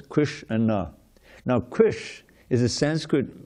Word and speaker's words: Kṛṣṇa: It's the name of two syllables, Kṛṣṇa.